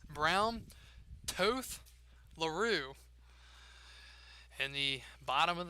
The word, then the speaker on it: Toth: After all these games, glad to know that I finally have the correct pronunciation. Toth.